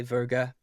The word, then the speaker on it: Werge: sounds so I'd say think of the star sign Virgo and then just say verg like with an a um my nickname in